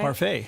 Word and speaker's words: parfait: Parfait.